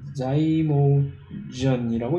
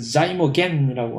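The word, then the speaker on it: zymogen: 형태의 효소들을 통틀어서 우리는 자이모전이라고 얘기를 합니다. 독일어 방식에 이것을 자이모겐이라고 하는데 모든 발음 형태가 얼마 전부터 영어 형태로 바뀌었기 때문에 국제적으로 이 자이모전이 맞는 발음인데 자이모전.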